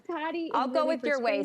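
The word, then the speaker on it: Tody: Tell me about, is it Toady? Toddy. I think I'm saying it right. Yeah, Toddy.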